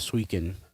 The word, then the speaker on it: Suiken: Uh, so something I don't think anybody's passionate about is we have official photos of Trainbot Swen. I can never pronounce the name correctly. Um, no, you got it right.